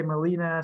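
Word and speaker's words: melena: I think so, because some people say melina, some people say melana, but I say melana. I think a lot of people say melana too. I think it just Me too. how you say it.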